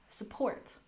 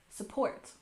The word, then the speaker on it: support: Support has stress on the second syllable. Support. Support.